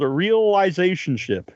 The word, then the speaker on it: Realisationship: But you've got a new album out right now, and it's called Realisationship. Is that how it's pronounced?